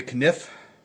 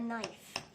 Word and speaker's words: knife: There's that K. Everybody says it's a silent K, but we should... That doesn't seem right to me. Well, it is silent. Like night and night, there's a silent K in the night, like as it's getting